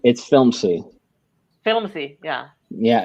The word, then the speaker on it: Filmzie: It's Filmzy. Filmzy. Yeah. Yeah, it's spelled FILMZIE.